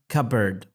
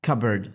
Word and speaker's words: cupboard: The cupboard P is silent. Cupboard, which looks like the word cup and the word board, but smushed together, but is pronounced cupboard.